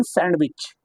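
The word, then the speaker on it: sandwich: व्हिच letter is silent in सैंडविच? सैंडविच। सैंडविच नहीं पढ़ते हम लोग। सैंडविच पढ़ते हैं। क्या साइलेंट होता है? डी साइलेंट है।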